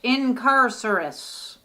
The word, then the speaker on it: Incarcerous: deck is uh incar incarcerous pronounced incarcerous uh it's a jinx